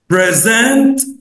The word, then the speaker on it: present: الكلمه دي بتتكون من مقطعين two syllables present. ممكن اقولها لو الستريس على اول مقطع هنقول present present ودي معناها هديه، لكن لو الستريس على السكند سيلابل لو هنشدد على المقطع الثاني هننطقها present present ودي معناها يقدم، يبقى present هديه لكن present يقدم.